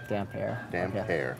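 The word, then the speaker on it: Damphair: Aaron gray Jays title damn fair that's from Rob I'd damp air dam hair yes I should have put a hyphen in between this is because he's all wet okay that makes a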